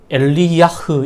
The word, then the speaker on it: 엘리야: 이 엘리야라고 하는 이름은 나의 하나님이라고 하는 뜻의 엘리, 그리고 여호와를 뜻하는 야흐, 이것이 결합된 것으로 엘리야흐 이런 발음을 할 수 있습니다.